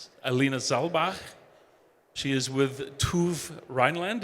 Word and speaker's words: TÜV: She is with TÜV Rheinland. It's T-U-V. I had to learn to pronounce it TÜV.